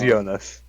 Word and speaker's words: Jonas: it yonas or Jonas I think it's Jonas okay all right yeah I just wanted to make sure because I say I not gonna lie I didn't really pay attention to the pronunciation at first I just like the way yonas sounded yeah no it is yonas okay I just wanted